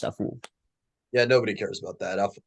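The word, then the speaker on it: Afful: his last name was awful that way technically it's pronounced a fool yeah nobody cares about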